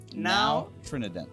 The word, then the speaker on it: Nao Trinidad: this around the world and the boat is pronounced now Trinidad Trin that yes so the original ship the